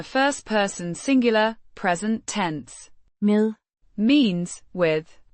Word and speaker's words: med: Med. Means with. Pronounced. Med. Dash. Mi. As in the English word. And d is a soft d.